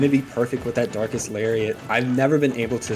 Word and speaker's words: Darkest Lariat: That's been a move that I don't know how to pronounce. It is indeed Darkest Lariat.